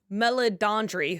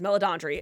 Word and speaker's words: Meledandri: It seems like Chris Mellon, I always never know how to say his name, Meledandri, who, yes, that's what it is, Meledandri, inadvertently did the thing that the Fleischer brothers, Don Bluth and Jeffrey Katzenberg could not.